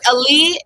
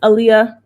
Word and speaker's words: Aaliyah: um hi is it is it Ali how do you say your name it's Aaliyah Aaliyah wait wait wait